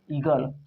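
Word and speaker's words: eagle: तो जब ई को ही पढ़ेंगे तो ई को हम पढ़ेंगे ई, आ ए साइलेंट ही है, जी को ग, आ एल को ल, क्या हो गया? ईगल।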